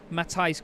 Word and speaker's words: Matthias: a dutch uk racing saying that mr groddish pronounced it matai's groan yeah i thought it was either matthias or matthias like uh